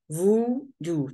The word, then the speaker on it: voodoo: Here in the dictionary, voodoo, two syllables. This is the pronunciation. هذا يسمو long U, voodoo.